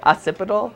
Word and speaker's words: occipital: Occipital.